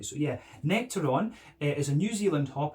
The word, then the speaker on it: Nectaron: So this one is hopped with Citra and Nectaron.